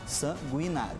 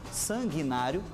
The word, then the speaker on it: sanguinário: aqui apenas a pronúncia não se usa o tre no em sanguinário as duas pronúncias estão corretas eu posso dizer tanto sanguinário quanto sanguinário Vale também para as